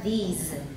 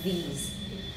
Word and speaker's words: these: to watch out for number one it's a lot of you say with l in taiwan english it should be these number two s is z it's not s not this number three e is very long okay these so make